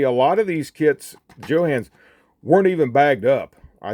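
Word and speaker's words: Jo-Han: that's the incorrect pronunciation it's actually a contraction of the guy who started the company John Hanley so that's contraction of his name so it is Johann so but uh that's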